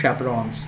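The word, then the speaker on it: chaperones: It's not chaperon actually, it is chaperons, you know, chaperons. Yeah, it's not chaperon, it's chaperons.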